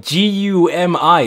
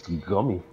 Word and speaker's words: Gumi: G-U-M-I. Look her up. She's like Hatsune Miku, but not. Nigga, that's Gummy. No, it's pronounced Gumi, because Japanese pronounce are weird.